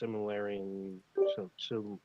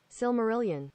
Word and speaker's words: Silmarillion: I believe it's pronounced Similarian. Similar. We're gonna see in a second. Oh, they're not speaking. Oh, wait. Silmarillion. Silmarillion. All right, that's how they say it.